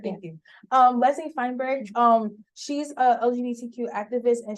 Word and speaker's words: Feinberg: Well, Leslie Bergenberg, that's how you say her name? Feinberg, thank you. Leslie Feinberg, she's a LGBTQ activist and she's an advocate for poor people.